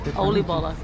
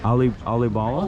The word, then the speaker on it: oliebollen: They're getting tempura mushrooms and oliebollen, I think. Oliebollen is the Dutch pronunciation. It's called they're like a Dutch donut. Again? Oliebollen. Oliebollen?